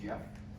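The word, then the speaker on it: Geoff: I don't know if anybody realizes that, but this Jeff cock of his, which pronounced G-E-O-F, but he pronounces it Jeff, The jump.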